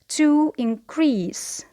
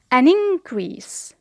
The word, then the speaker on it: increase: So to increase, here the stress is on the second syllable. However, when it is a noun, we say an increase.